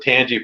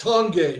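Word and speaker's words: Tange: And it's and it's pronounced tong by the way.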